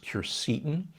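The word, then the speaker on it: quercetin: a big fan of sure certain sometimes pronounced cure Seaton it's a compound that's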